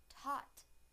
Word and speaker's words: taught: taught now the a sound in the word taught taught taught now I will use them both